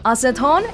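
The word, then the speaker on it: アセトン: Acetone is pronounced acetone in Japanese, and acetone is Iris's nickname.They translated it to Tessa.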